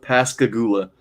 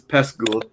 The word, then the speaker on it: Pascagoula: It's called Pascagoula. That's not how you say that. It's Pascagoula. Like, it skips syllables, whatever.